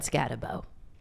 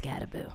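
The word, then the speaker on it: Skattebo: give me a break we said scabo and it's scaboo it's the same difference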